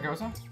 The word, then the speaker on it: Gose: beer that is almost the same pronunciation but it's spelled g-e-u-z-e I believe and this is goza g-o-s-e is there a difference in the the